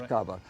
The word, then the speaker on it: caber: get the the cabers the Scottish word for log is cabber and that's a proper pronunciation is cabar and so they to